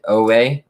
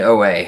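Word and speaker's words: Oweh: our next guy is going to be jason owen um did i say it right yep jason no way jason oh way um edge out of penn state perhaps probably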